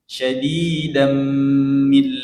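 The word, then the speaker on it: شديدا من: Ba'san syadidam baru dia idgham masuk di huruf mim. Syadidam min ladun. Didengung lagi. Coba ulangi.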